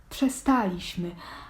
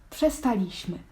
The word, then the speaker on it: przestaliśmy: Akcent wykonawczą pięknie wyeksponował a zatem przestaliśmy a nie tak jak wypowiada ten wyraz potocznie większość ludzi przestaliśmy jak z kolei na